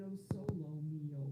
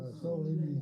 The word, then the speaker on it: O Sole Mio: I always pronounce it O solo mio, but it's No, O sole sole mio.